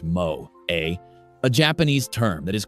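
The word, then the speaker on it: moe: They would point to the concept of mo, pronounced mo a, a Japanese term that is crucial to understanding this aspect of anime culture.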